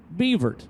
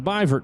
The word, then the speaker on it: Beavert: Coalinga California and then Teddy beavert or byvert rather I'm sorry byverts how you pronounce that from Payette Idaho a